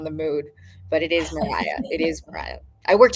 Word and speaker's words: Mariah: That part when it's pronounced right really really excites me. But I do appreciate you nailing the Mariah part of it.